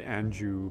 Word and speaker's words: Anjou: The red anjou pear, oh my goodness. Anjou. Yeah. Okay, I was saying it right the first time.